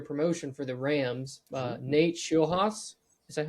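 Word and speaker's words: Scheelhaase: Nate Schulhaus.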